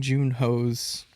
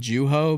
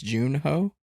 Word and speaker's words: Joon-ho: I was saying Joo-ho, but it's Joon-ho.